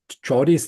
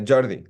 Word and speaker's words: Jordi: Catalan it's a Jordi Jordi yes also ji also ji okay I thought it would be or something like this well that would be in Spanish but in the Northeast we speak Catalan and my name doesn't